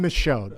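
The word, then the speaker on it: Michaud: His name is Tom Micho.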